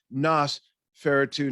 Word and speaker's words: Nosferatu: Andrew Sweeting says, it doesn't work because Nosferatu is pronounced Nosferatu, not nose.